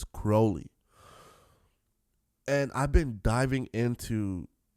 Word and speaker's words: Crowley: I've been pronouncing his name Crowley, but it's Crowley.